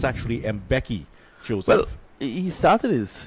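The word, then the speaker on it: Mbeki: he gets his first name I know it's mispronounced a lot here locally played the mvk and some other different but it's actually M Becky joose well he started his his his training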